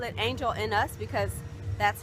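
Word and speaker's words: Angel-in-us: taking you to angel angelina's foreigners call it angel in us because that's how it looks like it's spelled but i think koreans pronounce it angelina's like like a name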